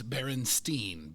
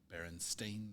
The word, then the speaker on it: Berenstain: how to spell it almost everybody pronounces it and remembers it it seems Berenstein b-e-r-e-n-s-t-e-i-n but it is s-t-a-i-n Berenstain Bears or you know